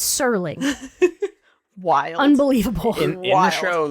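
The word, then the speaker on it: Serling: Rod Sterling every person we thought it was Rod Sterling as well we did we really did There's NOA from this yeah there's no tea it's sirling wild unbelievable in the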